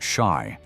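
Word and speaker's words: し: In Japan, the number four is pronounced shy, which sounds like death, and nine is Q, evoking pain or suffering.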